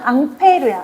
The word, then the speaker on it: 앙페르: 이 암페어의 원래 이름은 앙페르야. 앙페르.